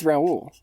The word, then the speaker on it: Raoul: the other versions also i always say his name ral cause that's how they say it in the movie for some reason which makes no sense like it's raul that's like how the name is said but everyone in the